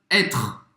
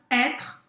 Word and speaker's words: être: Então o verbo être, presta atenção nesta pronúncia. A gente não pronuncia o E no final, tá? Être. Être acaba no R.